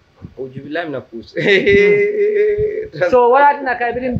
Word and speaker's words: Kush: Kush K-U-S-H. Bush B-U-S-H. Though like rhyme soul. La rhyme soul. So you take a bush lema, you take a kush ma. No. Kush. Ojubilam na kush.